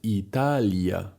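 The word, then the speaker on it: Италия: To jest Italia, czyli Lia. Tam naprawdę jest to i ja słyszalne.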